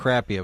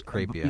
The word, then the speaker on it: Crapia: Yeah, it looks like it's spelled that. Crappia, but it's Crapia.